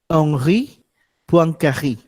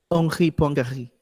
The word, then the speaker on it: Henri Poincaré: And the correct pronunciation of this, Henri Poincaré. Henri Poincaré, not Henri Poincaré. That's, that's a wrong way of pronouncing it. Henri Poincaré.